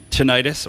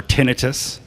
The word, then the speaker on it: tinnitus: So ringing in the ears is tinnitus or tinnitus. Yeah. You can pronounce it however you like. I Thank you. believe both are acceptable.